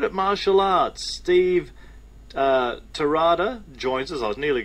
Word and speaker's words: Terada: he's pretty good at martial arts Steve uh terada joins us I was nearly going to say Steve Tera has it spelled but it's not as pronounced and we were talking about pronunciation earlier Steve terada joins us hello there Steve how are you